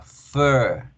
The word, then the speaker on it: fur: Pelo de animal aprendimos que se escribe con U con R, pero se pronuncia con la E larga. Fur, fur, fur, etcétera, etcétera.